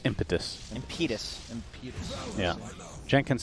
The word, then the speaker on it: Impetus: How do you say it? It's impetus.